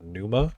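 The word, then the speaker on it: Pneuma: There's this puzzle game I played called Numa with a silent P.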